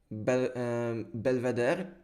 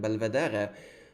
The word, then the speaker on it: Belvedere: It got inspired by a visit to an art museum in Belvedere. I think that's how it's pronounced. I know the name comes from Italian, Belvedere, like bel means beautiful, vedere means to see.